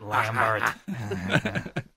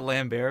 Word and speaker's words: Lambert: a r is it it's like a play on words and a helpful pronunciation guide for his name he he phonetically spelled it with animals cuz you English dummies don't know how to say my name my name is not Lambert I feel like we're